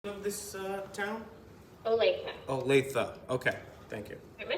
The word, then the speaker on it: Olathe: A couple interesting things I found is we're in Olathe, is I guess the correct pronunciation, and they currently have no missing persons cases.